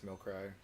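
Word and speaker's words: Milcery: That's spelled weird. yeah, it's Milcry. Milcry?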